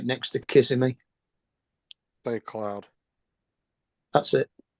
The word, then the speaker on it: Kissimmee: And then his stepdad lives in Kissimmee, don't they?